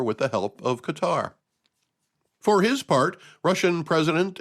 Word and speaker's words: Qatar: And yes, that's how I'm going to say it. I always hear the talking heads on the news pronounce it Qatar. They put the accent on the wrong syllable, if you ask me.